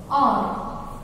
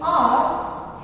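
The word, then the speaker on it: hour: But let I tell you, in R, H is silent. We are not supposed to pronounce the word H.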